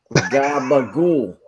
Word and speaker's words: gabagool: Gabagool. You drag the O like a ooh.